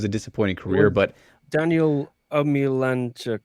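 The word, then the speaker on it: Omielańczuk: I hate to say it was a disappointing career, but Daniel Omilanchuk. Right. I pronounced that right.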